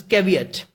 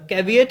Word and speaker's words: caveat: now what is this caveat the caveat is a noun first of all the power of speech is noun and the pronunciation you can just look here caveat it's caveat okay its cover yet so what is what